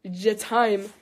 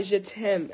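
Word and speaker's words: je t'aime: And she said that it's pronounced je time, not je tem. And I thought it was pronounced je tem, unless she's just, like, pranking me or something. But she said it's je time.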